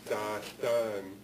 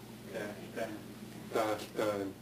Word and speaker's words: Tahltan: And in English, they're called Tahltan, but the name that I was taught some years ago is Dahtan, and they have their own language. It's an Athabascan language, Dahtan. How do you say it? Same? Dash-dan. Okay. Maybe with just a short vowel there, rather than a long vowel.